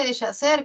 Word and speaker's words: deshacer: Profesora, se pronuncia deshacer, ¿qué está haciendo? ¿No? Muchas se equivocan. No, la H no suena, ¿ya?